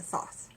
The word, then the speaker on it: Thoth: I pronounce it Thoth. T-H-O-T-H, just like it's spelled.